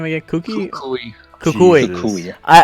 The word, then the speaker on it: Kukui: Kukui.